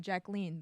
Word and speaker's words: Jacqueline: being called Jackie and she preferred being called Jacqueline the French pronunciation oh Barbra Streisand you